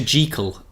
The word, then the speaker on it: Jekyll: doing butchering this yeah did you know it's dr. Jekyll and mr. Hyde it's it's written in the text to rhyme with treacle yeah how much my